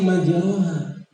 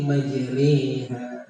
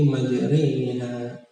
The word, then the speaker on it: مجريها: Bacanya biasanya majroha, tapi dimiringkan sedikit majreha. Dan satu-satunya ini imalah. bukan bismillahirrahmanirrahim, tapi majriha. Inna rabbi laghafurur rahim.